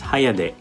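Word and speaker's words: 早出: define this in japanese it's read as hayade or early out that's because morning shift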